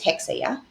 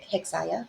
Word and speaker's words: Hexa: The correct way to say it is hexa, right? Uh people have called it he hexia like you you said uh earlier and then um hexella.